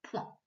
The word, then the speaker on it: point: Cette fois, je le fais en bleu et la syllabe qu'on lit, c'est P-O-I-N, qui fait P, ouin, point. On retrouve point dans le pointage, un pointeur et pointer.